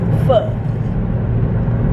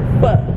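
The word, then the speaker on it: phở: I know how to pronounce it. Nigga, it's pho. Pho. You about to get fucked. Like shit. Pho.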